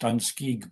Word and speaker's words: Danske: Carol said um because my own thoughts about uh the question of Danske, it's pronounced Danske by the way.